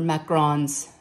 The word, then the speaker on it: macaron: She's got the macaroons, or macarons. Macarons, is how you say it, y'all.